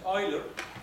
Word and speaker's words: Euler: in the Euler identity the way to pronounce his name is Euler like oily for J5 is it